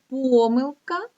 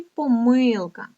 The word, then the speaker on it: помилка: також є слово помилка Може наголошуватися так помилка і помилка а слово помилки має